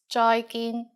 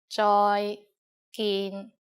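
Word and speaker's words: 再見: just like the English bye-bye with a Cantonese pronunciation bye bye and in formal situations use joyin Joy gin joyin means goodbye finally in kones we have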